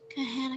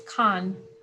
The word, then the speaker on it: Khan: on yeah i did i thought it was kahan academy no you pronounce it as khan okay so let's multiply